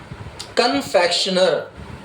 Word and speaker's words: confectioner: CONFECTIONER, कन्फेक्शनर। इसका pronunciation भी लिख लीजिएगा, कन्फेक्शनर। कन आधा न आएगा, फैक्शनर शंकर वाला, कन्फेक्शनर।